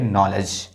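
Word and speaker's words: knowledge: के और साइलेंट है और यहां पर डी साइलेंट है। इसको पढ़ेंगे नॉलेज।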